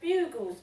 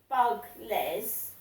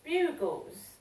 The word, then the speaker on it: Bugles: So, I haven't had any parcels today, but there was a parcel for Trewally in a Bugles box.